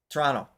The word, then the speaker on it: Toronto: It's Toronto. Isn't it like really quick? Toronto.